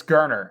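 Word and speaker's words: Geriner: the guy that convey holden garren is a gurner sorry i keep mispronouncing it um is it it's gurner and i and i can't i can't i've said it wrong for almost a year now and i feel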